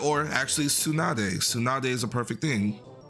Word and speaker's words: Tsunade: And then, like, you know, the DE at the end tends to be its own syllable in a lot of Japanese names. Like, or actually Tsunade.